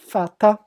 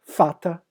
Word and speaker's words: Vater: No alemão, o V não se lê V, se lê Fal. Tá entre aspas aí a pronúncia, Fal, exatamente isso. Como na palavra Volks. E aí vocês lembram Volkswagen, né?